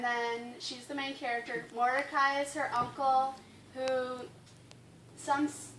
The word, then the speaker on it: Mordecai: reading scripture might be helpful knowing how to pronounce these. So we have Esther, and then she's the main character. Mordecai is her uncle, who some people say he